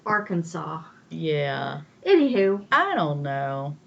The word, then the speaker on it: Arkansas: I don't know why it's pronounced Arkansas. It doesn't have a W on the end, but it could be a Native American word.